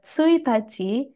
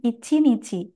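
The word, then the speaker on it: 一日: Untuk kanji ini, memiliki dua cara baca. Jadi yang pertama bisa dibaca Tsuitachi yang artinya adalah tanggal 1. Selain itu, kanji ini bisa juga dibaca dengan Ichinichi dengan arti satu hari.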